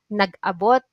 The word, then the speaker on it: nag-abot: one is nag-abot Okay the stress is on a here nag-abot you must pronounce it